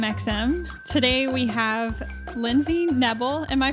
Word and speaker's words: Nebel: today we have Lindsey Nebel am i pronouncing that right yep it's rebel with an N odd that's awesome Lindsey